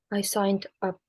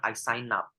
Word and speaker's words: signed up: I signed up. Nah, itu masih putus-putus cara bacanya. I signed up. Lebih fatal lagi kalau kamu bilang I sign up. Ini I signed up.